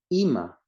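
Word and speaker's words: אמא: The next word is Ima. Ima is mother, mom. It has that little dot underneath the Alef. It sounds like E. Then the Mem has A sound, and it sounds like Ima.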